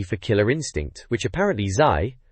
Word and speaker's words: Zai: Killer Instinct, which apparently Zai, pronounced Zai remember, thought was a bit harsh in the mag, but it gets in anyway, no objections.